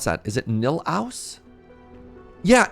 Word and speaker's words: Nilaus: Is it Nilaus? Yeah, it's so good. Oh, everybody in chat being like, yeah. Nilaus, thank you.